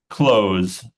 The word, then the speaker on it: clothes: is the pronunciation uh so close close without t uh close Okay um because it's a th sound so yeah that's why close yeah close I guess